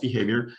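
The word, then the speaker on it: BehaVR: a company called behavior it's kind of spelled weird but it really is pronounced behavior and the vr is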